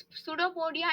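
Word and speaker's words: pseudopodia: false feet अभी इस पडो पडिया इस वर्ड को ब्रेक डाउन करते हैं पहली बात तो पी साइलेंट है इसलिए हम बोल रहे हैं पडो पोडिया ठीक है अभी पडो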